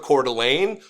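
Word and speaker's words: Coeur d'Alene: know Idaho or northern Idaho it's it's near cordelane you've probably heard of cordelan saw the word and didn't know how to pronounce it that's how to pronounce it cordelan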